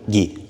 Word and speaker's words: Gui: Gui. G-U-Y. G-U-Y? Yeah. So like spelled like guy? Guy.